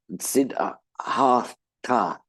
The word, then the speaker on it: Siddhartha: the Buddha's name is Siddhartha Gautama, and I hear people saying Siddhartha, like Mr. Sidney Arthur Gautama, you know. So it's the th in Sanskrit are two separate letters. So it's Sid Ha Ta.